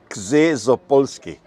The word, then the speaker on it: Czesopolski: Yeah, it's Przemysław Czesopolski, and it's very important how many syllables the last name has.